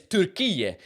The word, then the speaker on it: Türkiye: So Turkey, in English now, officially is, I don't know how you say it in English, but it's Türkiye, which is how you say it in Turkish, right?